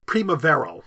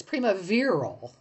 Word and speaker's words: primaveral: Primavero. No, it's primaveral. Primavero, I'm sorry. I was doing a Latin pronunciation.